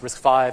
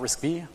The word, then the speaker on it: RISC-V: you were aware that risk five is actually pronounced risk five and not risky it's actually pretty good